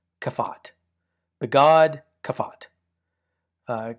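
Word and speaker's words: begadkefat: Well, we call this be God. Be e G- A D. We put these little vowels in here. Be God. B E G- A- D. Kafat.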